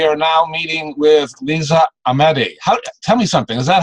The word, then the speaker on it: Ahmady: It's Ahmady. It's Okay. kind of a very soft and gentle way of pronouncing the H. So it's Ahmady.